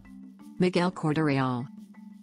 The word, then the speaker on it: Miguel Corte-Real: Miguel Cordarreal. Miguel Cordarreal, Portuguese pronunciation, circa 1448 to 1502, was a Portuguese explorer who charted about 600 miles of the coast of Labrador.